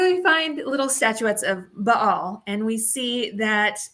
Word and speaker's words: Baal: So when we find artifacts, let's say a common one for Israel is finding Baal statuettes, or my professor would, of course, correct me and be like, it's Baal. So I will try and use that pronunciation so he doesn't, correct me later.